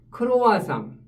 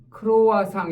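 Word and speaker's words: croissant: 이루어져 있는 텍스트가 특징인 크로아상 크로와상 여기 t가 브로이다 보니까 발음이 안 되죠 그 다음에 초승달을 뜻하는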